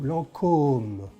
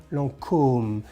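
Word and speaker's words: Lancôme: Market because Lancome hello you see there's a little hat on the O So Lancome Lancome it's like for example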